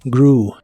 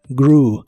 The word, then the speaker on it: grew: el pasado es grw no se pronuncia la e de esta palabra solo grew grew y en el pasado